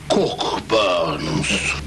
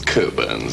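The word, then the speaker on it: Cockburn's: enjoyed glass of Port cork Burns not cut it's coburns actually we don't pronounce the CK cool birds so that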